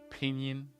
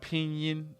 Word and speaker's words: pinyin: sound if you like you can imagine this pronunciation as the EAN in the word mean a great word to